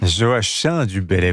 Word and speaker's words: Joachim du Bellay: Joachim du Bellay, vous avez raison de la prononcer à la manière angevine.